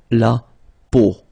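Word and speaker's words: peau: it but then so the sound that you will have to pronounce when you've got the these three vowels combined together it's the sound O Okay so really simple o okay so you get La po okay La that's it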